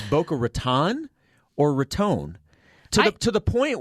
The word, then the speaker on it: Raton: or debate, down there, somebody had made reference to Boca Raton, but had said it the other way, and so it had sparked this debate because nobody really knows which way you say it, because there are some people that say it's absolutely this, and then the other side says it's absolutely this. But I think what we found out is Raton is the correct.